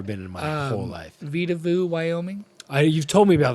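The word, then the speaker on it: Vedauwoo: It's called Vita Vu. Vita Woo is how it's spelled.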